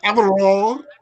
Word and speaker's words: Alvaro: I'm always getting that R right. Alvaro.